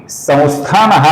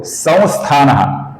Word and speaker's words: संस्थानः: अब यहां पर गौर से देखिए, इधर जो स के ऊपर अनुस्वार है इसका कुछ लोग उच्चारण करते हैं संस्थानः, कुछ लोग उच्चारण करते हैं संस्थानः, अर्थात वे अपूर्ण म और अपूर्ण न का उच्चारण करते हैं। ये दोनों उच्चारण गलत है दोस्तों।